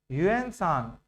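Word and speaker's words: Hiuen Tsang: Next point यूएन सांग एच आई यू इ एन टी एस ए एन जी टी एस ए एन जी में T silent है।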